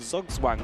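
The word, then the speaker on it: Zugzwang: Ah, is that how you say it? Yes. Ah, I am educated and hopefully many are too. It's German, right?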